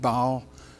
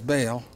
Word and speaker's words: Baal: always pronounced that wrong I was thinking ought to beat ball but it's bail terrible fella and he